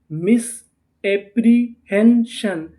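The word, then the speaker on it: misapprehension: अगर आपको इंग्लिश में कहीं पर पी आर ई लिखा मिले तो हम लोग पी आर ई को पढ़ते हैं प्री। क्या पढ़ते हैं? प्री। तो इतनी मीनिंग क्या बनी? मिस एप्री एच इ एन हेन एस आई यू एन इसे हमें क्या पढ़ना था? शन तो पूरी मीनिंग क्या बनी?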